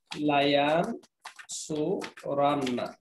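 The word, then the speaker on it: لَيَنْصُرَنَّ: পড়ে আসছি ইয়ান সুরুর আগে যদি লা যুক্ত হয় আর শেষে নুন যুক্ত হয় উচ্চারণটা হবে লায়ান সুরান্না অর্থ কি হবে অবশ্যই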